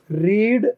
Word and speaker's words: read: अगर इसको रेड बोला तो सेकंड फॉर्म या थर्ड फॉर्म है। तो देखो, रीड first form, second form